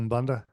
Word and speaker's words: Umbanda: Umbanda?